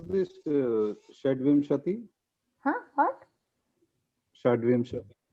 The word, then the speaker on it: षड्विंशतिः: Shadvimshatihi. How to pronounce? Shadvimshatihi.